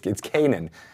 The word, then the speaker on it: kainen: But he checked with him to find out how Gary Gygax pronounced Mordenkainen, and it's not, it's Kanan, is how Gary pronounced it.